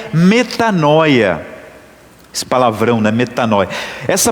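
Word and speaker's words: μετάνοια: evangelho escrito em grego essa palavra converter conversão se pronuncia metanoia esse palavrão né metanoia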